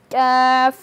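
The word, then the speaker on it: كاف: অংশটুকু থাকবে কাফ কাফ যদি উচ্চারণের স্থান দেখি তাহলে জিহ্বার গোড়া থেকে একটু আগে বাড়িয়ে তার বরাবর উপরের তালুর সঙ্গে লাগিয়ে কাফ বাংলার মূল বর্ণ যদি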